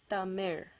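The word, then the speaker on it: தமிழ்: the sound are well the actual language itself tamir it's actually pronounced as ta mer okay it ends with that ra sound um another word is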